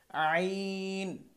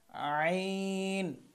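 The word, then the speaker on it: عين: এই যে হলকের মধ্যখান থেকে, এই যে জায়গাটা দেখাচ্ছি এখান থেকে শুরু হচ্ছে এটা, শেষ হচ্ছে এটা, এটা হচ্ছে মধ্যখান। আইন, আইন।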